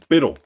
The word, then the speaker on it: Bitil: Number three, Bitil. I know it's supposed to be pronounced Beetle, but like, it's just the word Beetle, but spelt horribly.